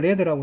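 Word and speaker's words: lead: 1978년 이전에 미국에서 생산된 페인트는 레드 하면 발음을 레드라고 해라.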